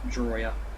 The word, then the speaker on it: Drawyah: my name and my channel is pronounced drawia so yeah we are